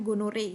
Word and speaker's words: gonorrhoeae: disebabkan oleh bakteri namanya neisseria gonorrhoeae jadi bacanya gonore ya itu kenapa nama